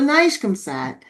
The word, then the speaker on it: NIGCOMSAT: Um oh yes pronounced correctly. Thank you. Okay. So, Nishkamsad um very happy to have them here um